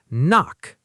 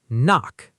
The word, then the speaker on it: knock: Knock. Say it. Knock. The K is silent.